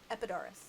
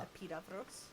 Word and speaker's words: Epidaurus: So they're gonna say Epidaurus Okay. because that's the modern way of pronouncing it. Huh. Epidaurus. It's funny because but- that sounds Yeah. more removed from how I would have pronounced it. Yeah. So I would assume that was the ancient Greek. But Epidaurus is what, like, English archaeologists say.